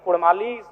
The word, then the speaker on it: कुड़माली: इसलिए मैं मांग करता हूं कि र के स्थान पे अड़क किया जाए क्योंकि कुड़माली साहित्य की बात करें तो अड़ का महत्त्वपूर्ण स्थान है जैसे काड़ा माड़ भेड़ा पीड़ा डाढ गौड़ मोड़ ये उच्चारण केवल कुड़माली साहित्य में ही संभव है अभी अगर इसका आप